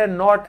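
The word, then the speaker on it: knot: They Tide नॉट and lived happily ever after शादी का बंधन क्या होता है? नॉट नॉट तो इसमें के साइलेंट होता है।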